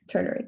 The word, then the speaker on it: ternary: the tertiary or ternary i forgot how to pronounce it but turner ternary thank you um okay so if there is